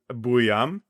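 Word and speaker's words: Buium: And then uh again, I think his last name is probably most phonetically properly pronounced, Buam.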